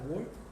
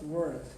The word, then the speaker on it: ward: is under your shelter ward w a R D W Ward W word. Yeah, it's not word.